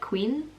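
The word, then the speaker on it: Quynh: So I don't know, I think I've said this before, but my middle name is actually Vietnamese, so it is Quinn, but it's pronounced like Queen. Like, I don't even know how it's pronounced, but it's Q-U-Y-N-H.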